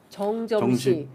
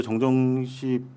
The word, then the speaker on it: 정점식: 다만 어제 정정식 발음이 어렵네요. 정점식. 발음이 어려워.